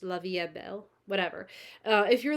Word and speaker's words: La Vie est Belle: La Vie EST Belle keep saying La Vie s Bell but I don't think in French they pronounce the S just La Vie Belle whatever if you're like